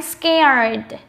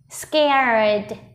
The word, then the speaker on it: scared: Nhớ bật âm cuối nhé, d. Scared, scared, scared.